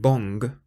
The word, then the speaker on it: bon: So normally the word bon is pronounced with a nasal sound on the end. As I said, if you say the word bong and take the G off, that's how you say bon.